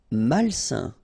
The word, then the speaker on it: malsain: Malsain. A-I-N together, it's a nasal and it's un.